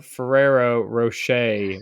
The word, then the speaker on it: Ferrero Rocher: No, it was a Ferrero Rocher, which now I know how to pronounce it.